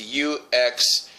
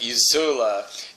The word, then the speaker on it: UXLA: And although not originally, there's one star system called, it's UXLA. And at first I thought it was like a stupid hick. I thought it was Uxla, but that's not. It's pronounced Uzula.